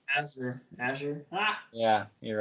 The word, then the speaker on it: Azure: Azure. Ah. Yeah, you're right. The pronunciation is A.ZHR.